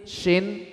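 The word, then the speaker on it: شين: Coba perhatikan, mari kita bedakan sin, shin, sod. Kalau shin pasti dari tengah, coba shin, coba sha. Nah, harus bisa membedakan shu, shi. Nah, ini kan dari mana ini? Dari pertengahan lidah.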